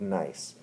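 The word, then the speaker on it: gneiss: be a sample of nice now that is pronounced with the without the g it's spelled g-n-e-i-s-s uh the g is silent and so it's just like nice like uh yeah like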